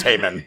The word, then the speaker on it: Hyman: you know oh god hyman i'm in uh i'm in procedures at least you're saying it right it's pronounced heyman what have we learned